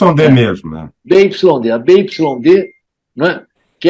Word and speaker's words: BYD: Mas a pronúncia é BID mesmo? É BID? Não, é BYD. As pessoas falam BYD.